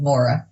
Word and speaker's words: Maura Sweeney: However you say Laura, I'm Laura with an M instead. Maura. Maura, right? Yep. Sweeney.